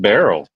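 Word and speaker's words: Beryl: other news hurricane uh Burell is that how you say it I think just barrel barrel really that's I have a cousin named Barrel in Honduras with that same spelling hurricane barel hurricane Barrel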